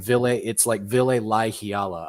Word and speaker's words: Ville Laihiala: It's like you almost have to pronounce every letter, so it's like Ville Laihiala, I believe.